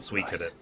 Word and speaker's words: Suikoden: That's why I know it's called Suikoden. That's how you pronounce it.